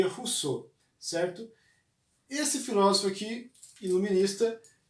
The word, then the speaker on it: Rousseau: Se escreve Rousseau, mas se lê Rousseau, certo?